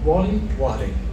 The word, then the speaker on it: Warlley: Alves, how do you pronounce his first name? Warlley.